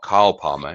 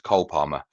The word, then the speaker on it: Cole Palmer: His name's not Carl Palmer, it's Cole Palmer.